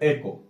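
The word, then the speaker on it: echo: इको and reverberation, तो इको क्या है? इको ये इको नहीं है बल्कि इसको बोलता है एको। इसका एक्चुअल प्रोनाउंसिएशन क्या है? एको।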